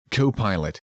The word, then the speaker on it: Copilot: In the previous two lessons, we looked at the popular Chad models in action GPT and co-pilot as I call it. You got it right. I know it's pronounced copilot, but that's what I call him.